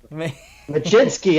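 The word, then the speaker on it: Mlodzinski: Machinsky.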